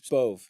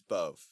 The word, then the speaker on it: Bodb: Like there was one that's like it's BODB, but you Bove. It's Bove. Bove.